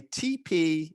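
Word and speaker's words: TePe: gum tissue at all but it's called a tp easy pick it's spelled t-e-p-e easy it's easily available on amazon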